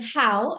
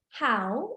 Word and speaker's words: how: image with the word how and the magnifying glass in the letter O. So the students will be aware of pronouncing this word ow. Yeah, let's read how instead of ho.